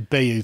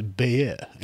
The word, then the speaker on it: Bayeux: It's not the Bayeux tapestry. It's Bayeux.